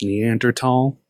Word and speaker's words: Neanderthal: and earth all um it's pronounced Neanderthal need timber all at